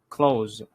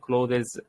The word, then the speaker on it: clothes: By the way, this pronunciation for it's called clothes, okay, not clothes. It's wrong, clothes.